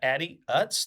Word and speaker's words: Addie Utz: So today I have with us Addie Utz.